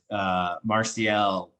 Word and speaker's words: Martial: And Martial, gotta be proud of me, I'm pronouncing that correctly.